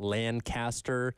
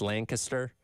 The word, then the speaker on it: Lancaster: I learned this morning I've been mispronouncing the name of that town mm-hmm. this entire time. It's not Lancaster. Yeah. It's Lancaster.